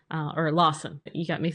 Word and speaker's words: Lawson: And so I had fun creating Lawrence. Uh or Lawson. You got me saying it wrong. Oh, I'm sorry. I said Lawrence. I said it wrong. You're right. It's Lawson.